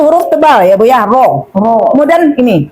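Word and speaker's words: ر: Ro itu cara pengucapannya enggak boleh bertingkat-tingkat sekali. R-nya Bu Ro itu enggak boleh ya, Bu ya. Cukup satu gelombang saja.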